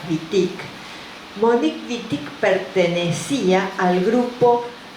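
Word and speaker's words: Monique Wittig: mon bitic Monique vitic escríbanlo con w pero como es francés lo pronunciaban con b corta lo pronuncian con b corta vitic Monique vitic pertenecía al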